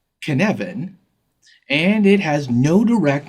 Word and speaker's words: Cynefin: The Cynefin framework. It's a Welsh word that is spelled Cynefin and pronounced kun-ev-in, and it has no direct English translation, but it's a sense of environment and connectedness.